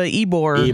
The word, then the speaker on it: Ybor: There's a real thing in Tampa, Ybor. Ybor, yeah. The fuck does that mean? It's spelled Y-bor.